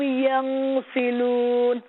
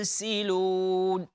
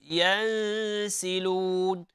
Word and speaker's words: يَنْسِلُونَ: So, with the pronunciation of the ikhfa, إِلَىٰ رَبِّهِمْ يَنْسِلُونَ. Make sure that, the sound is not coming from your nose. With ikhfa, it's hidden. إِلَىٰ رَبِّهِمْ يَنْسِلُونَ. And not يَنْسِلُونَ.